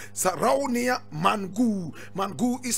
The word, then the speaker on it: Mangou: Now, today we are talking about Sarraounia, Mangou.